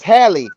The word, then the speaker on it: Halle: Why the hell you keep calling her Hale? It's Halle.